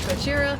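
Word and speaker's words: ゴジラ: Uh, all to pronounce Godzilla in Japanese is Gojira.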